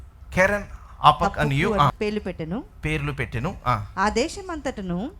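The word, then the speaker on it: Keren-happuch: రెండవ దానికి కెజియా అనియు, రెండవ దానికి కెజియా అనియు, మూడవ దానికి హపకు అనియు, కెరన్ హపక్ or apak, h is silent. కెరన్ అపక్ అనియు పేర్లు పెట్టెను.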